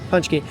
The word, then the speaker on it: pączki: do before this video punch punch Punchy like punch a punch punch key but we make it